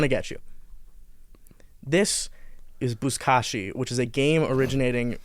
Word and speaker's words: Buzkashi: Buzkashi, that's how it's pronounced.